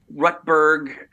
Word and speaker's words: Rutberg: Rutberg, 2 syllables, that hard T at the end of the first one.